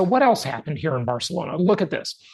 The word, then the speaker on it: Barcelona: was this giant protest in Barcelona or barcalona if you want to say it right a week ago